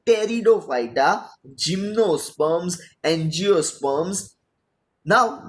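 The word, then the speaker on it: Pteridophyta: ये वर्ड जो है स्टार्टिंग उसका पी से हो रहा है, लेकिन पी जो है वो साइलेंट है, तो उसको बोलते हैं टेरिडोफाइटा, जिम्नोस्पर्म्स, एंजियोस्पर्म्स.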